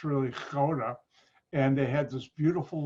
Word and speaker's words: Gouda: You pronounce it Gouda, it's really Gouda.